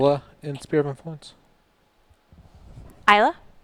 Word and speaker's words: Isla: in spirit my points isla you don't pronounce the S like isla Fisher 1 2 3 is